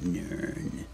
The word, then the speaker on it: Nirn: ecosystem Downstream I know where I'm from it's pronounced nirn hahaha oh and look